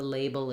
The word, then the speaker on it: label: Label, bull, I'm just closing my lips for the B, but still using that dark L, syllabic L. And again, I can try the label is missing, label is.